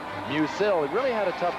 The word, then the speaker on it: Musil: It was Musil until today, and we were informed that he now wants his name pronounced Musil.